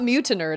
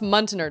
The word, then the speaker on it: Muntenerd: It's not Mutinerd, it's Muntenerd.